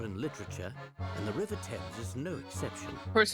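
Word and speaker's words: Thames: seeing a flyer for a restaurant named the t's arms on the way here it's pronounced TS okay okay okay that's where Celeste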